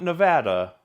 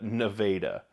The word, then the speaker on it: Nevada: Not Nevada, but Nevada. You have to say it like an Iowan, Nevada.